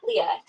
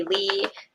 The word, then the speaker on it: Lea: Oh, my name is pronounced just like that. Leah. Sometimes because it doesn't have an H on the end, people um might say Lee. Occasionally I get Leia, which that one baffles